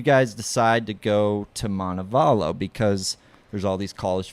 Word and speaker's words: Montevallo: and uh remind I don't know how to pronounce the school you guys go to you guys helped me out Montebello Montevallo yep yep Montevallo is that uh I mean